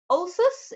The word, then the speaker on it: Ölsüss: and today I am here with Sonya from Alsace is that how you pronounce the name of your brand Sonya yes